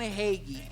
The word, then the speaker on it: Hagee: that's the way you say it right John Hagee okay so I must say the Nugget one